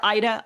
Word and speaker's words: Ida: Well, in English though, we do all, you know, call her Eda. Eda's the English pronunciation of of that name, and I've gotten used to that, so.